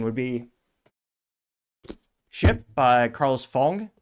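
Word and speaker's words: Ghosn: be Shi by Carlos Fong or phone is how you're supposed to pronounce it where he did successfully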